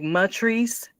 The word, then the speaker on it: Matrice: Um and is that spelled like Patrice but with an M as in Mary? Like Matrice?